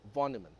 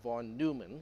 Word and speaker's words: von Neumann: and I have been corrected multiple times by people who actually speak Deutsch or German that is supposed to be pronounced as von Niemann not von Neumann which is what most